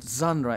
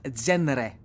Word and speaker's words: genre: for example the word genre why do we pronounce it zandra and not genre or gender jenner genre it's it's weird english